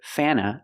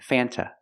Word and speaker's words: Fanta: It's more common to hear Fana than Fanta. Both are correct, but usually we don't pronounce the T.